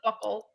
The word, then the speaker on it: buccal: I'm sorry, it's pronounced buckle.